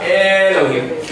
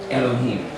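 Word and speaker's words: אֱלֹהִים: and say, Baruch atah Elohim. You know, it doesn't sound right. It's a short E sound. So it's Elohim.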